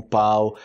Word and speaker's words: pau: isso tipo quando eu tô ensinando o pão pau pão pão pão Ai meu Deus eu tô